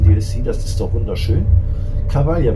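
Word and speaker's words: Cavaglia: Cavalia wird das also ausgesprochen.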